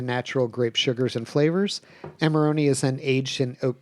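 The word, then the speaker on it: Amarone: Pronounced amaroni cuz I was just going straight with armarillo.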